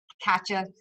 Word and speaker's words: Kaycha: So Kaycha is actually the Thai word for marijuana. So you can look it up because we've been back and forth about pronunciation of it, and any way is the right way. There's many ways to pronounce the letter A.